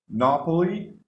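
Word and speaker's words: knobbly: chest full of gold nah Polly the K is silent is having like this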